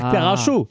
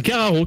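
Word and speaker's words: Karacho: Cararo et à l'époque tu veux dire caracho alors c'est Cararo que ça se prononce mais ouais et bah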